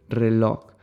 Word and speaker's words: reloj: loka's three locus okay this is a little bit of a strange word for us also to pronounce sometimes because it ends on AJ there are no so many words that end in J in our language but this is one of them okay so then when